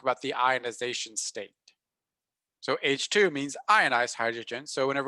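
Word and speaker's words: H II: So we pronounce this H2, and H1 would mean non-ionized neutral hydrogen.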